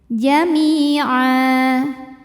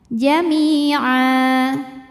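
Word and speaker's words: جميعا: Jami'a jika berhenti di a hukumnya adalah mad iwad sebab ada baris tanwin fathah yang diwaqafkan. Cara bacanya panjang ainnya 2 harokat. Jami'a.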